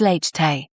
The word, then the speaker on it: latte: Latte is late-tay.